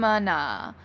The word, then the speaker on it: going to: And then I'm pushing together or linking together going to, which often becomes gonna.